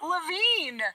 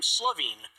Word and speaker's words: Levine: I said to the crowd, my name is Levine, not Slovene. True, Because there's no S on the first part of Levine.